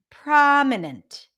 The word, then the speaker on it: prominent: gooda excellent pra and notice that the O is actually pronounced as an a because that's the AZ and father but that's pronunciation already